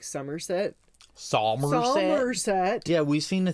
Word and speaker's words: Somerset: Because English people don't normally say the R, so instead of them saying like Somerset, they're like Somerset. Freaking Somerset. So like to pronounce the R, you really have to go out of your way.